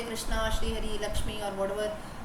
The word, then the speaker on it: Krishna: Because when I write there K-R-I-S-H-N-A, Krishna, I know what is Krishna, so I am pronouncing it Krishna. But maybe a person does not know who is Krishna. He will go by the spelling, he will say it is Krishna, right? Because K-R-I is Kri.